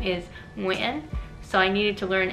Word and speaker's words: Nguyen: So I spent many years practicing because my last name is Nguyen, so I needed to learn NG, how to pronounce that.